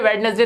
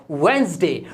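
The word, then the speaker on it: Wednesday: वेडनेसडे तो बहुत ही बोलते हैं सब, बुधवार को वेडनेसडे बोलते हैं, जबकि ये वेडनेसडे नहीं होता, इसमें डी साइलेंट होता है और ये बोला जाता है वेंसडे, वेंसडे।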